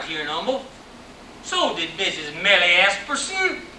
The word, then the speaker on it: Humble: money came from it came from Umble pronounced MBL Umble Tex in 1931 in 19